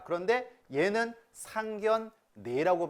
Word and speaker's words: 상견례: 앞에 있는 거치면서 어떻게 안나와있네요 자 그런데 얘는 상 견 네 라고 발음 하게 맞습니다 표준 발음법 5절 음의 동아